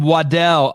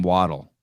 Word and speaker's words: Waddell: Hey, how would you pronounce his name? Brandon. But his last name? Waddell. Oh, I used to call him Waddle.